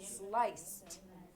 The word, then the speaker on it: sliced: And the past tense is sliced. One syllable, sliced.